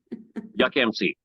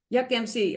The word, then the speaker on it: Yukmc: going to have to remind me how to pronounce the middle part. It's Yukon Yuck. Well, just call you. How's that? Yukmc. Yukmc.